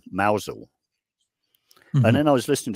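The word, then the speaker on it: Mousehole: on the coast called well it's spelled mouse hole but you don't say mous hole you say or the locals say mousel and then I was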